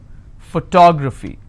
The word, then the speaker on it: photography: PHY. My favorite word. Photography. How many syllables? Photography. So this is my ending. I will stress here. Photography. GY.